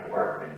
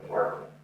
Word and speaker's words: apartment: So mansion is an apartment. If it's big or small, it's still an apartment. Condominium is also possible. Apartment, condominium, not mansion. Let's try the pronunciation on that one. Apartment. Stresses on the pa.